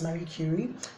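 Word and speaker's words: Curie: name is Marie Cy Marie cury okay if you want to pronounce it you know the should I say English way so yeah that's Mary cury and she is she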